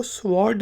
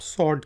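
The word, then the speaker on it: sword: ओ आर D side आप कभी इसको स्वाद नहीं कहते आप सौंठ कहते हैं तलवार को सोल्ड ओं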